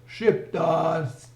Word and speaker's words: Shqiptar: Shqiptars! This is how they pronounced it.